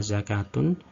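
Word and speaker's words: زكوة: Namun sebenarnya itu sama, bacanya adalah hayatun. Pada beberapa kata ini, yakni hayatun, solatun, sama zakatun, model penulisan pada cetakan Madinah adalah semacam ini.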